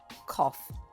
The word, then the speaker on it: cough: to know that the word that means is pronounced cough let's now match it with the question choices